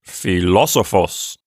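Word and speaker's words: φιλόσοφος: our new word for this lesson means philosopher and it has the accent on the third syllable from the end so it's philosophos we don't have any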